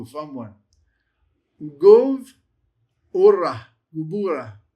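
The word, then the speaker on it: גבורה: Gevurah. Gevurah. Wee, fun one to pronounce. You have the gimmel, you have the sheva, you have the bet without any dagesh lene, so it's a v sound.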